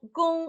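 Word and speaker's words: 公: Então, gung é G-O-N-G.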